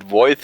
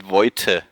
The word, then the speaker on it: Voith: So usually they pronounce it Voith, but you have to pronounce it Voite. Voite. We can do that. A little V with the T on the end.